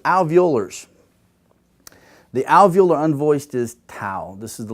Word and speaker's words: tau: The alveolar unvoiced is tau. This is the letter tau. And it's not said like RT. We don't put our tongue on our teeth. We put it on that ridge. Tau, tau, tau.